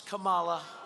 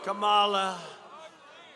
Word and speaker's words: Kamala: be safe the biden harris how about harris kamala kamala and you have to say her name writer